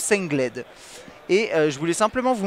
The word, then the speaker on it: Sengled: qui s'appelle s Gold ou sled il le prononce sled et je voulais simplement vous montrer rapidement quelques